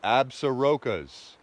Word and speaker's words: Absaroka: The Absarokas. That's how you say it, Absaroka, beartooth wilderness, in the Custer-Gallatin National Forest.